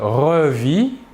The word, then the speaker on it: revis: présent de l'indicatif je revis tu revis il ou elle où on revit toujours la même chose le s et le thé finale de la terminaison ne se prononce pas mais s'écrivent passons